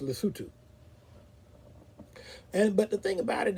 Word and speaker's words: Lesotho: it in terms of English, it looks like Lesotho, but it's actually pronounced Lesotho.